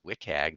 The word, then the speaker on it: WCAG: accessibility guidelines or the wit CAG that's WCAG WIC AG that's how we pronounce it version 2.0 the w3c is is